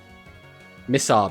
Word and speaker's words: Missar: Missar, basically. It's pronounced like miss at the start.